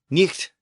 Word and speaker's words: niht: night as in nighttime and I noted that it was originally pronounced Nik and it was spelled niht in Old English with the H representing